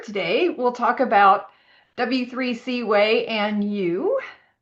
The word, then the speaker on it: WAI: So, as Crystal said, we're going to talk about the W3C Access Accessibility Initiative, initials W AI, which we pronounce way, but unfortunately screen readers pronounce it Y.